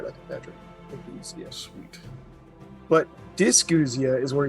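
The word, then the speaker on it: ageusia: I don't know if I can pronounce it right, but yeah, you said it right, I think, Patrick. Agousia.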